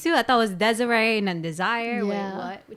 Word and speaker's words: Desire: Like, I mean, yeah, it's spelled desire though, which obviously Desiree, means like desire.